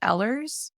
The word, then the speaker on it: Ehlers: a million different way I personally pronounce it ehlers but I mean EDS